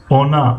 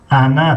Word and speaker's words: она: اولی هجاشون بگیم اون اونا، اما در تلفظ فرق میکنن. اون تلفظ کرده می شود. اونا انا تلفظ کرده می شود. انا انا انا.